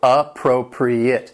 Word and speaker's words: appropriate: The word has 4 syllables, and the stress is on that second syllable, appropriate. Now, keep in mind that last syllable, which has that short I sound, appropriate. And if something is appropriate,